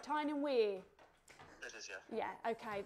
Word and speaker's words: Tyne and Wear: Tyne and Wear?